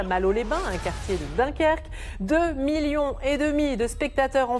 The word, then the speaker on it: Dunkerque: Le film Dunkirk, ou Dunkerque si on le prononce à la française, vient de décrocher 8 nominations aux Oscars.